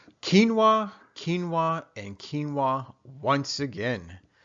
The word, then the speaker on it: quinoa: heard of it or maybe just maybe you pronounce it ki Noah right well whatever the case may be please